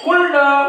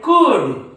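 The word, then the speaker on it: could: शुल्ड काय म्हणतात ते कुल्ड उल्ड शुल्ड पण हे कुल्ड नाही उल्ड नाही शुल्ड नाही हे आहे कुड काय आहे कुड हे आहे वुड हे आहे शुड म्हणजे या डी च्या अगोदर एल हा काय आहे सायलेंट असतो या डी च्या अगोदर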